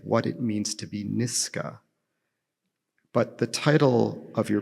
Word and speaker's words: Nisga'a: So the correct way to say the name of my nation, the nation of my grandparents, is Nisga'a with a K sound, and all of my